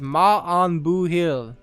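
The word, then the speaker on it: maith an buachaill: we're good on you the pronunciation is ma on boo hill i mean it just seems like there's so many absolutely silent letters in in irish and you know what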